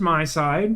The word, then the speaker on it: MiSide: you doing we're playing apparently it's pronounced my side is my takeaway from